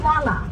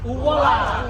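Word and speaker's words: ʻuala: Say it like this, uwala. Uwala.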